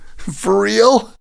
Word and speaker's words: for real: For real? That's awesome. And here's a pronunciation tip. The R sound of for combines with the R sound in real.